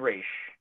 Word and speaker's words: Ra's: unexplored with race agreed who by the way has been pronounced as raj and rache that's right fish i have thoroughly researched this and the animated the animated movies and tv series have both raish and roz and then there's one